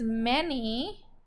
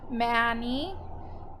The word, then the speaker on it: many: for this week is many many has M so that's the right sound for m e so a usually should say a Manny but it's m any so we need a